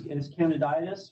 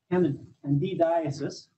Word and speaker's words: candidiasis: So the official name is candiditis, right? Candidiasis. Reason I always like to forget a syllable on that one.